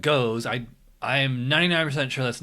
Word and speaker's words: Gose: This is called, well, it's spelled Gose.